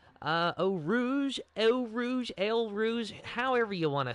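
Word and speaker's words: Eau Rouge: oh Rouge oh Rouge L Rouge however you want to say it I know it's actually o Rouge but let's be real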